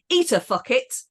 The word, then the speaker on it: ita facit: stuffed is fartus, and the phrase he makes a journey is ita facit, pronounced eater fuck it.